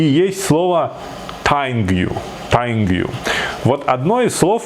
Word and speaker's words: тайниг ю: А вот по-чеченски кукла будет тайнгю. Да? Тайнгю. Тайнгю. Вот смотри, тайнгю пишется вот так, и вот такая куколка там, видишь?